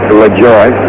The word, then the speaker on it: Lajoie: And I played against their great-grandson, who called himself Nap LaJoie. He pronounced it LaJoie rather than the French version.